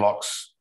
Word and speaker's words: Laux: bond uh andrew juron locks is that the correct pronunciation yeah uh hank laser who